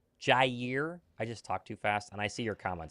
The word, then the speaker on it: Jaire: It's cuz I talk so fast, it sounds like I say Jere. Jaire.